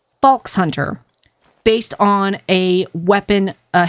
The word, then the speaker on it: Falxhunter: from I go by false Hunter it almost sounds like Fox Hunter but you put a little bit of an L in it but either pronunciations work for me and um it was